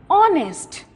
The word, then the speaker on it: honest: Number 2, those boys are honest. It is not honest, it is not however. H is silent over here.